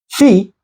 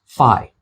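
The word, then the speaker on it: phi: put Fe over here Fe can also be pronounced fi this is the capital fi and this is the lowercase fi the next letter is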